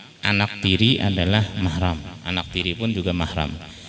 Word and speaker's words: mahram: Jadi nang bujur membacanya mahram, bukan muhrim lain. Kalau muhrim itu orang berumrah, haji atau umrah. Muhrim artinya orang berumrah. Tapi nang bujur mahram.